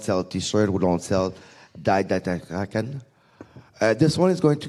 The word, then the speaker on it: REcon: How do we pronounce REcon? REcon.